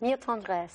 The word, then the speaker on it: Mille Tendresses: Mille Tendresses.